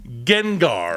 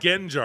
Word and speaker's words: Gengar: There'll be a Target exclusive Gengar. Haven't we Gengar. done this? Did I pronounce it right? Gengar. I was going to say Gengar? Genjar.